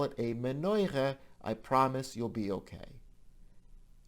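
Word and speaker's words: מנורה: There are lots of Hebrew words that we use in Yiddish, but we pronounce them with an Ashkenazi dialect. So this would be called die Menorah, plural die Menorahs.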